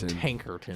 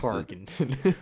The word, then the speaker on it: Tarkenton: Fran Tankerton. Tankerton. Fran Tarkenton. Tarkenton. He's Tarkenton.